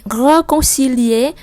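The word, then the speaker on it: réconcilier: Tiếp theo on với N mình đọc là on, âm mũi on, rồi er ở cuối mình đọc e. Reconcilier, reconcilier.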